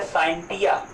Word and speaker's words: scientia: इसकी उत्पत्ति लैटिन भाषा का एक शब्द है साइंटिया, एक शब्द है साइंटिया, SCIENTIA, साइंटिया। हाँ, एक बात और समझ लो, साइंस या फिर साइंटिया में जो यस है वो साइलेंट होता है।